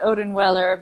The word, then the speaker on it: Odenweller: In America, people pronounce it Odenweller, but in Europe, of course, people use the German pronunciation.